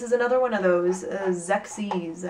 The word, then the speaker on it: Xexyz: And this is another one of those, Xyz, I believe that's how you pronounce it. You can pronounce it however you want, though. I don't know, it's XEXYZ, so take your pick.